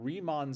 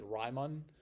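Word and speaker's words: Riemann: it should be pronounced Ryon uh but it's German and so in German when you have two vowels next to each other it's the it's the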